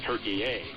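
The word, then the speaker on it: Türkiye: Now it's in the country of modern-day Turkey, or the modern-day pronunciation is Turkey-A.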